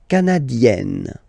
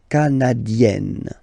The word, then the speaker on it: canadienne: Le Canada, canadien, yin, here, canadien, canadienne, yen. Remember, here you've got double N, so you've got to open the so it will become canadienne.